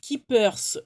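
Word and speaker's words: Ki2pers: alors, Keepers Créatif, tout attaché, tout en minuscule, .fr. Donc, K-I-2-P-E-R-S, créatif, bon, tout attaché, hein, comme ça se prononce, .fr.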